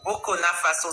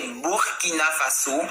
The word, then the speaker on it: Burkina Faso: Vous avez dit Burkina Faso, ça se prononce pas comme ça, c'est Burkina Faso.